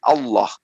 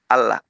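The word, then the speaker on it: الله: berbicara mengenai kata Allah, apabila lafaz Allah berada di awal kalimat setelah harakat fathah, tanda baca atas, maka cara membacanya tebal menjadi Allah. Kalau dia diawali dengan tanda baca kasrah, maka dibacanya tipis, Allah, illah atau bismillah.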